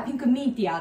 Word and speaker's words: ピンクミーティア: て描くとピンクメテオって読まれるんですけどあのーそうなんですよ見てよって書いてあるんですけど読み方はピンクミンティアと読みますでなんでその名前